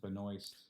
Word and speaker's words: Benoist: really good um Melissa how do you say her last name Benoist Benoist yeah like the moist yeah she's just really